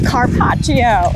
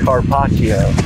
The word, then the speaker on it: carpaccio: an access deer oh i'm excited help me pronounce it one more time what are you making a carpaccio carpaccio oh wow that's your first access box